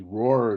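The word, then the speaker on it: Rohr: This is the Roar Turbo Train. It's spelled R O HR U which is an aerospace company that actually designed and built this thing.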